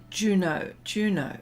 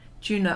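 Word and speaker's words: Juneau: And, oh, is it Juno? Okay. Juno. Oh, is that how you pronounce it? Juno.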